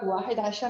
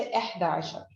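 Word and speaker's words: إحدى عشر: लेकिन हम लोग वाहिद आशर नहीं बोलते क्योंकि 11 और 12 की स्पेलिंग थोड़ी सी हमने डिफरेंट बनानी होती है. तो instead of वाहिद you have to से एहदा आशर.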